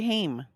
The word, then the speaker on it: Haim: Corey Haim. Corey Haim, that's right. Yeah. Oh, as a kid, I always said Ham too. And there, of course, it was always girls. They'd be like, Haim.